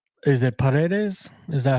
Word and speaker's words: Paredes: Is it Paredes? Is that how you say it? Paredes.